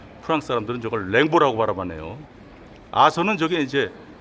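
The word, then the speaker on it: Rimbaud: 저게 이제 영어식으로는 림바우드 뭐 이렇게 발음해야 될 텐데 프랑스 사람들은 저걸 랭보라고 바라봤네요.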